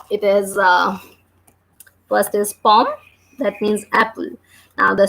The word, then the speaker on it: pomme: And last E is silent again. So we are reading this word like is like pom.